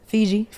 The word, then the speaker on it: Fiji: I went to, how you say it, the Fifi Islands? Fiji.